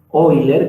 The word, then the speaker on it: Euler: fue determinada siglos por un señor llamado hoy leer que se escribe euler y que la cara